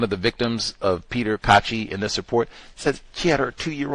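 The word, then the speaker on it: Caci: The the road rage incident with uh Peter Cachi. I think that's how you say his name, c a c i, Cachi. I think that's how they said it.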